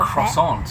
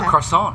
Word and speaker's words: croissant: We have a croissant, yes, the croissant in the croissant. You gotta say it like a Frenchie. Frenchie croissant. A croissant.